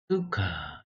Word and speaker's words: Sychar: Sychar. 발음이 어떻게 됩니까? 수카. 수카인데 시카.